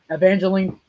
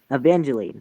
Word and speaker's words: Evangeline: eveline and R how do you say that Evangeline evangelene thank you Evangeline and rap uh Rapids Rapids Rapids and Rapids